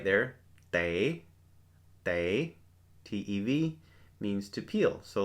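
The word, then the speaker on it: tev: The next word over to the right there, te, T-E-V, means to peel.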